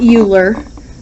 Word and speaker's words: Euler: All right, the constant E referred to as Euler's constant and Euler is spelled weird. It's not Euler, it's Euler.